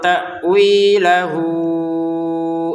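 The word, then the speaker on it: تَأْوِيلَهُ: Wa ma ya'lamu ta'wilahu illallah. Nah, ta'wi 2 harokat, hunya ini kita panjangkan 5 harokat.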